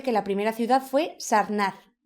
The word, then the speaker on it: Sarnath: Pues aquí parece que la primera ciudad fue Sarnath, o como se pronuncie, que está cerca de Benarés. Sarnath, sí, es Sarnath.